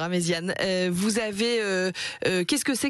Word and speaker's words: Amezian: amésian et alors amésian pardon j'ai prononcé amésiion tout à l'heure amésian vous avez qu'est-ce que